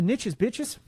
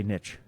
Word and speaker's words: niche: correct way to say niche. Don't don't sit here and tell me niche. Why? Why? Because number one, it sounds weird. It rhymes with quiche instead of rich.